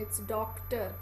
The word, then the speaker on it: doctor: क की साउंड भी आती है बीच में. इट्स डॉक्टर.